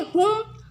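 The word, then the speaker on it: whom: ठीक इस तरह से मतलब सेंटेंसेस नहीं बोलते तो हु का मतलब होता है कौन ठीक है हुम हुम का मतलब होता है इसमें जो है डब्ल्यू साइलेंट है ठीक है हुम का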